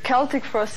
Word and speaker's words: Celtic Frost: One say Celtic Frost, the other one say Celtic Frost, so what's actually the truth? Well, both are acceptable, actually.